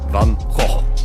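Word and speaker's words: Van Gogh: Also, a a Dutch colleague of mine told me today that it's actually pronounced van or van. Is that the painter from uh from Netherlands? Van Ho.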